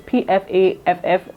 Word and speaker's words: Pfaff: And I do have an old machine, which is the brand name is it Pfaff, or I don't know how to pronounce it. It's Pfaff, and I think it's a German brand, and it's very durable.